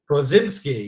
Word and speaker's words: Podziemski: I need to get the pronunciation right. It is Brandon Podziemski, I believe it is. Podziemski, yeah.